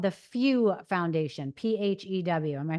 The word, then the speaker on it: PHEW: So you have something called the Few Foundation, PHEW. Am I pronouncing it right?